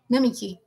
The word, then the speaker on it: Namiki: How do you pronounce Namiki? Namiki.